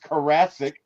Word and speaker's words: Carassic: and my guy Carassic. That's right. I've been saying his name wrong forever, so guys, forgive me, but it is pronounced Carassic. Think Jurassic Park, but with the Curassic.